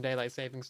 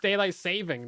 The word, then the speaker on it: daylight saving: It's just daylight saving, though. There's no S on it, which apparently is something that I always pronounce wrongly as well. Because James is like, it's actually daylight saving.